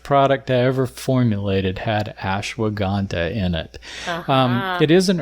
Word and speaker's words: Ashwagandha: And what is the one that I'm not going to be able to pronounce? Ashwagandha? Ashwagandha.